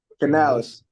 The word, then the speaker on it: Canales: like their new head coach Dave how you pronounce his last name Canales Canales I I like his I like the